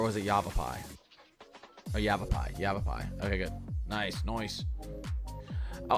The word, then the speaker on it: Yavapai: Yavapai.